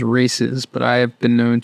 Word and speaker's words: Reese's: it tastes like uh Reese's or Reese's depending on your pronunciation I believe correct pronunciation is races but I have been